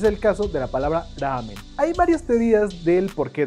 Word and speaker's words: ramen: La pronunciación correcta de la palabra en idioma japonés es ramen, con la R lo más suave posible y alargando la A.